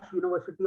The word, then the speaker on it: university: he works in that University of reputation a university of reputation okay he works in a university of why Earth University of repute because the sound is a y sound the sound is essentially